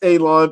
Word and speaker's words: Alon: My name is Alon, pronounced like you're gonna cut grass, like you're gonna cut a lawn. It's not spelled that way, but it is pronounced that way.